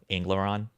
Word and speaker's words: Anglaron: Yeah, this is how it's spelled. Think like English. And there you go. Ingloron.